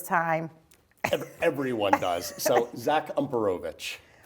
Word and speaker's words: Umperovitch: So, Zach Umperovitch. Umperovitch.